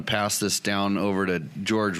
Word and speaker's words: Jorge: I am sitting here with my co-hosts tonight, Logan the Talker and George. It's spelled Jorge.